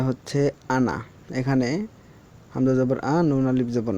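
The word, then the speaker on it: أنا: আনা এখানে হামজা জবর আ নুন আলিফ জবর না যদিও আছে কিন্তু আলিফের উচ্চারণটা হবে না আলিফের কারণে এখানে টান দিয়ে পড়তে হবে না বরং আনা টান ছাড়া পড়তে হবে লিখতে আলিফ আসবে পড়তে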